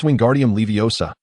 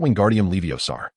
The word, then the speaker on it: Wingardium Leviosa: "It's Wingardium Leviosa, not Wingardium Leviosar. The Leviosa must be pronounced long and clear.